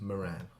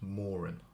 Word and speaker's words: Moran: normally pronounce it is Moran the the second syllable is much more pronounced than the first but if I'm in Ireland uh it's not pronounced that way it's pronounced Moren where the first syllable